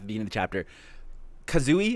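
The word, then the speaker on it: Kazui: Kazooie, is that how you say it? Does anybody know how to pronounce Ichigo's kid's name? Is that Kazooie? Kazooie, yeah.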